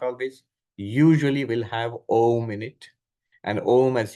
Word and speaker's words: Om: them together, it becomes Aum. But by the rules of Sanskrit grammar, when you put A and U together, it becomes O. So that's when if you pronounce it Om, you are pronouncing it correctly.